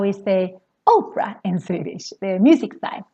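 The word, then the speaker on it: opera: is how is they Oprah in Swedish their musics I'm Oprah very very long and the reason why it's long is because we have just one confident coming after the P so remember one consonant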